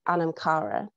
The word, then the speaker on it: anam cara: And it's pronounced differently by different people. So for now, I will call it by Anamkara, because this is how my friends in Inverness call it at the community that I am part of. But this is not the original Gaelic pronunciation.